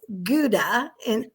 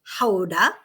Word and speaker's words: Gouda: I was in The Hague today, and yesterday we were in Gouda, which everyone pronounces as Gouda, but really it's Gouda.